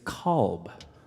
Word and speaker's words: Kolb: i pronounce louisville wrong i've been pronouncing your name wrong for like four years it's kolb i change it up jesus